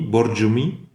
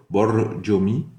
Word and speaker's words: Borjomi: Borjomi. Le R, c'est un R roulé espagnol. Borjomi.